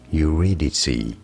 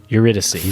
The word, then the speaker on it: Eurydice: Pronounced as Eurydice. Eurydice.